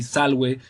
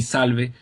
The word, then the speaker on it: salve: V, it depends on the country. Restore pronunciation would be salve. Italian pronunciation, ecclesiastical pronunciation would be salve, and but yeah, that